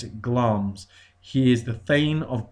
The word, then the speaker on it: Glamis: It's written Glamis, but we pronounce it Glamis.